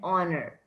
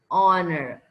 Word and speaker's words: honor: it's a consonant but because h is silent that's why i can use an in front of this because the sound that's coming out is honor uh honor okay so and are